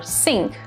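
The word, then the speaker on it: cinq: remember these words s-u-q or suck c-i-n-q or sync q a j a q or kayak t-r-a-n-q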